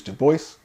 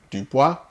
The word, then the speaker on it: Du Bois: note however on pronunciation i will use to voice rather than dupois for the principal reason that the voice left us instructions on how to pronounce this name du bois let's get